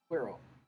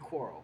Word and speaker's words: Quirrell: Quirrell. Quirrell. Quarrel. That'd be Quarrel, because it's spelled like squirrel.